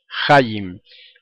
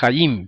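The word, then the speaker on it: חיים: Entonces, algunos a veces equivocadamente pronuncian la palabra hayim, la pronuncian como palabra llana y dicen hayim, como cuando dicen lehayim, cuando están brindando, dicen lehayim, ¿verdad? Lo más correcto es hayim, por lo tanto sería lehayim.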